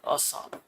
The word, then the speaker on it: Assal: So the lowest point of Africa continent is Lake Assal. You can pronounce it as Assal, ASSAL. Okay.